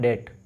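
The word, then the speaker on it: debt: Next देखो, negative cash flow instead of इन डेट, डेप्ट नहीं बोलना है इसे, बी साइलेंट रहेगा, इसे बोलना है डेट।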